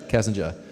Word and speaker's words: Kassinger: casinga cassinger juror casinger kassinger without the r in my case at the end I guess uh Diane